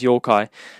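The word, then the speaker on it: 妖怪: life a bit so Yokai Yokai or you know that uh it's pronounced in Japanese Yokai it's a Japanese monster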